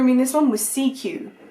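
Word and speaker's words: Sekyw: in this one was CQ, which obviously when I'm saying it to you going, oh, it's a C and a Q put together, how clever, but it is spelt S-E-K-Y-W.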